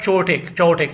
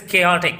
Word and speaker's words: chaotic: chaotic, remember the pronunciation of chaotic, it is not chaotic, it is chaotic, chaotic.